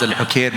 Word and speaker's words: Alhokair: From our experience as Alhokair Group, I'm pronouncing my company, our group now as Alhokair, but after 2 weeks